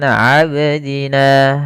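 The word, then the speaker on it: عبدنا: panjangnya dua harakat kemudian abdina abdina ya di sini ada bacaan qqala qqala artinya memantul kesalahan yang sering terjadi yaitu tidak memantulkan huruf qalqala contoh Al abdina ini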